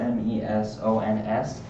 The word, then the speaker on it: meson: Now, this is spelled M-E-S-O-N-S, and I've heard them pronounced mesons, and that's the only pronunciation I've heard, but I way prefer the pronunciation mesons, so that's just how I'm going to pronounce it.